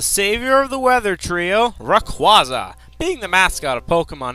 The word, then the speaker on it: Rayquaza: pretty interesting oh and by the way it's pronounced Rayquaza not Rayquaza I blame that on that stupid PC game